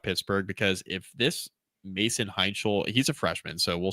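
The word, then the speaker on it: Heintschel: Hunchel? Where have you been all my life? Gesundheit. Max Hunchel? Yeah, that sounds right. Mason Heinchel. Man, I butchered that. Heinchel. So it is.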